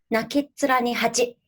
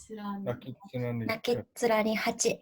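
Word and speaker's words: 泣きっ面に蜂: Today I will introduce the word nakitsura ni hachi. Wow. Nakitsura ni hachi.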